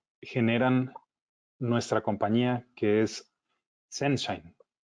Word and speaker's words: ZNShine: Aquí la E es muda en las letras, sin embargo en la pronunciación lo recomendado es incluirla. La E que va entre la Z y la N es de grafeno, recuerden eso. Entonces nuestra marca se pronuncia Senshine.